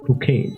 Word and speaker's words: Chuchel: Actually, if you pronounce it in the Czech language, it will be Kukel.